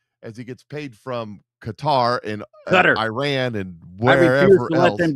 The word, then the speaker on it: Qatar: They decided they wanted to be called Qatar. I don't care. I'm still calling you cutter.